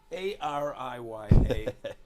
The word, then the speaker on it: Ariya: it's Ariya.